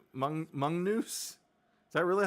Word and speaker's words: Magnus: Oh, it's pronounced mongoose.